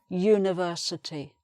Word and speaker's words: university: a sound, and again, letter U is a vowel, but the pronunciation is this y sound again. So a university.